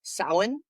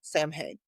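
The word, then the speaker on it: Samhain: try to say like I know that it's pronounced sin but whenever I see it in words my brain just reads it as Sam Hank no matter what I do.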